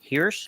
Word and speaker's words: Hearse: And and otherwise I've been working on an 11-page horror story for an anthology book coming out from Fierce Comics called, it's spelled HEARSE, Hirsch Load of Horror.